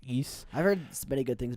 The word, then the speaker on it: Ys: Because I bought all the East games, it says YS, but it's pronounced East.